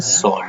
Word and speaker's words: sword: तो इसको हम O को लंबा नहीं करते हैं, WO को हम लंबा नहीं करते हैं, तो इट is pronounced as सॉर्ड।